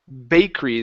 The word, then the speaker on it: bakery: Let's go to bakery. This is a long A sound. Acre instead of bakery.